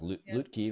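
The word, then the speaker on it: Lütke: In fact I read that uh that memo from CEO Toby pronounced Lutkkey right.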